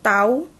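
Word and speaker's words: τ: Interval waktu pemberian itu tau, bacanya tau.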